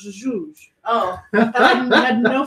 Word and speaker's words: Jesus: Yeah, My- it's how you pronounce Jesus in Yeah, Wasn't because just- they don't don't have- the J's and S's make weird noises. So Jesus in Portuguese is pronounced Jesus.